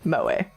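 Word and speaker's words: 萌え: Also used to refer to the culture of entertainment centered around characters who possess such traits, pronounced moe.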